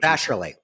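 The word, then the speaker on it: Vasarhelyi: How do I pronounce her last name? Because I was butchering. Vasherly.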